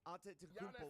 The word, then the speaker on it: Antetokounmpo: It's the how I can't pronounce his last name. Antetokounmpo.